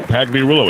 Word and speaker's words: Pagliarulo: Joe Pags is short for Pagliarulo. How do you say it? Nailed it. Yeah, Pagliarulo, exactly.